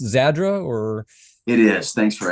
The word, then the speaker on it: Zadra: I got to clear that up is it pronounced zadra or it is thanks for asking I was